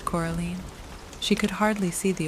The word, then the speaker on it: Coraline: they get things wrong they got your name wrong you know they kept saying Coraline not Caroline not Caroline at all he picked up